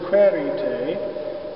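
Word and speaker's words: quaerite: interesting about this is the word credit a is accented on the first syllable and in this setting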